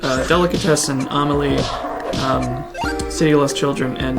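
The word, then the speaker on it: Amélie: Is that, how do you pronounce it? It's Amelie.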